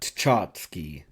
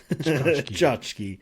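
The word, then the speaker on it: tchotchke: Chachski. Chachski.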